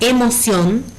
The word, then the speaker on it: emoción: Por ejemplo, la palabra emoción tiene 3 sílabas. E-mo-ción. Y su sílaba tónica es ción, ¿sí? Tiene tilde gráfica.